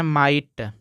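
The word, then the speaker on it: might: है इसको पढ़ दोस्तो माइट यहां भी जी एच साइलेंट है इसको पढ़ते हैं माइट इसको पढ़ते हैं क्लोज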